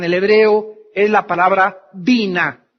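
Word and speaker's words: בינה: La palabra inteligencia en el hebreo es la palabra bina. B grande, Y, N, A, H. Bina.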